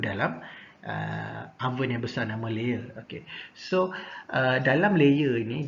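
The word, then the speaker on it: lehr: Okay, nama oven itu kita panggil dia sebagai layer. Layer. Kalau sebut ada layer, okay, ejaan dia L-E-H-R. Okay, jangan sebut leher lah, layer.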